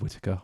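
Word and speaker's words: Whitacre: Yes, side note, I said Whittaker. I pronounced it right this time.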